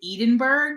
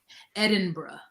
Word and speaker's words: Edinburgh: Edinburgh. Edinburgh. Okay, so there's an Edinburgh University in Pennsylvania that's spelled the same, but it's not pronounced this way.